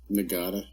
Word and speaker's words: Nagata: Of course, in the last episode, I got General Nagata's name wrong a couple of times. Nagata.